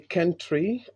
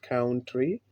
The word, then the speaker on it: country: So we say country, it is not country, but country.